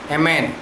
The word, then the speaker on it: Amen: इसका हिब्रू शब्द है एमेन। स्पेलिंग वही है AMEN, लेकिन प्रोनाउंस एमेन होता है।